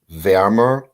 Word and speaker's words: wärmer: So the umlaut makes a difference in how it's pronounced. You know that. Warm, wärmer, am wärmsten.